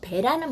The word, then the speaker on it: 배: 짧게 발음해서 배라고 하는 것은 먹는 배도 있을 수 있고요. 아니면 사람 배 있잖아요. 똥배. 요것도 짧게 발음합니다. 아니면 동동 떠다니는 배 있잖아요. 이런 거는 짧게 발음해요. 그렇지만 길게 발음하는 배, 그러니까 수학에서 많이 쓰죠. 곱하기 2, 곱하기 3, 2배, 3배 이럴 때는요, 배가 좀 길어져요.